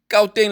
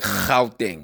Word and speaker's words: Gauteng: You're supposed to pronounce Gauteng like Gauteng.